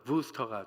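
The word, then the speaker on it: Worcester: 있는데이 부스터가 영어로는 우스터에요 근데 이제이 w가 V 발음이 나서 부스터가 됩니다 재밌는 거는요 여러분 케이프타운이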